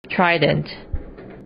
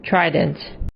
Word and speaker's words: Trident: 이라고 발음합니다. 포세이돈의 무기는 삼지창인데 영어로는 Trident. Trident.